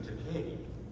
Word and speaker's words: Takei: context I said well my surname decade rhymes with the word gay and so just substitute